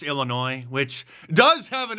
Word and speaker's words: Illinois: know how to pronounce Illinois which does have an s on the end but I think we learned in was it fifth grade that the S is silent so look at that